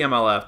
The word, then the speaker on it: MLF: the the MLF and just the MLF don't call them but don't pronounce their acronym as one word please don't uh you've got